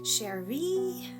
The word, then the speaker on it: Cherie: Hear her call me, or how she said my name with the emphasis on the second E. Cherie.